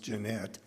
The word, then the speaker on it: Janet: His mother, Jeanette, was spelled Janet, but pronounced Jeanette.